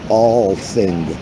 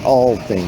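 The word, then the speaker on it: Althing: And parliament in Iceland, you will love it, phonetically pronounced the All-Thing. The All-Thing. It's not spelled that way, but it's phonetically pronounced the All-Thing.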